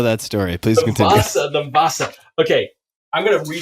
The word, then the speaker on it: Vasa: W-A-S-A, Vasa, the Vasa. And it starts with a V. V-A-S-S-A? No. Did I say that? No, W-A-S-A. Definitely don't know that story. Please continue. The Vasa.